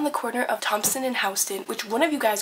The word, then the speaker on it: Houston: corner of thompson and houston which one of you guys goes is that really how you pronounce houston we're not texas it's not houston okay sorry i called it